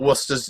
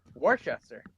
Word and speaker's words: Worcester: But what's Before I say anything, anybody Oh, that says this is when we figured out what Worcester's new name was Okay.